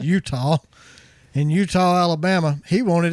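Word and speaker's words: Eutaw: particular Utah Alabama it's spelled etawah but it's pronounced Utah in Utah Alabama he wanted his free weey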